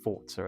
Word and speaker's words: Forza: So the Forza series has come a long way, or should I say Forza, because it is pronounced Forza, as it's an Italian word for, I believe it's like go or fast or something like that.